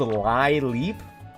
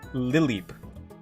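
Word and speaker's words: Lileep: on a plant is actually not called Lie Leap. It is pronounced lily, like a lily.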